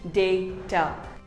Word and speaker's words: data: restaurant here's another word it is not data it is called data say day ter similarly here's another word